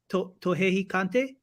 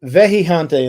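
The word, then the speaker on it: Vejigante: Vejijante. Tohejicante? Nope, Vejijante, and it's spelled Vejijante.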